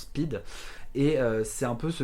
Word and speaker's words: Pyt: traduire en français donc ça s'écrit P YT et en gros ça se prononce speed et c'est un peu